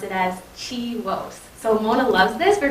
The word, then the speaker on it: CHIWOS: So CHIWOS stands for the Canadian HIV Women's Sexual and Reproductive Health Cohort Study, and we pronounce it as CHIWOS.